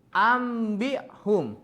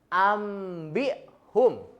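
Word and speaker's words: أنبئهم: Ambi'hum. Jadi bacanya itu si nunnya itu diganti sama mim. Ambi'hum.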